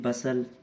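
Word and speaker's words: bustle: ऐसे ही बसल, इसमें भी नहीं है।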